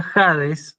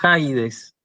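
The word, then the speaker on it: ἀεί: pronuncia como ya dije se pronuncia jades no se pronuncia hai dez acá para darse cuenta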